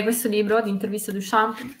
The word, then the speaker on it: Duchamp: Duchamp, perché la P non si legge.